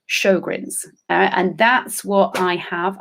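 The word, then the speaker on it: Sjögren's: it's something called sjogren's it's spelt not like it sounds so if you want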